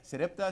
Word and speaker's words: Sarepta: Entonces debemos ser como la viuda de Sarepta. Sarepta es la pronunciación.